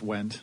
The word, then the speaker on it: Wendt: talk about his feelings towards me exclusive went is that the table - how are you say your last name yes Alan t just went and then go away silent D went yeah